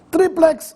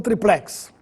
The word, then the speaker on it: triplex: forma projétil com assento triplex ou triplex apesar de as duas fmas estarem corretas siga o exemplo da palavra duplex em que a preferência é sem acento o mesmo